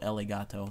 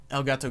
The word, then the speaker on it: Elgato: elegato test my Elgato elegato that's not how you say it Elgato game capture I got for my birthday oh sorry um Elgato game capture I got